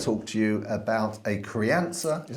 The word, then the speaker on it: Crianza: we're going to talk to you about a Cree answer is how you pronounce it uh crayon though yeah so this particular rocker comes in at eight pounds 50.